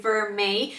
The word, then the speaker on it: vermeil: is spelled in a certain way, but you pronounce it vermeil, which actually is spelled out really nicely here.